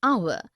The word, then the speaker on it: hour: heir an honest an hour because the words air honest an hour begin with a vowel sound as the initial consonant H is not pronounced article 1.